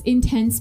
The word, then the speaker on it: in Tents: life in tents so it's intense but it's spelled i n te n TS they're they're based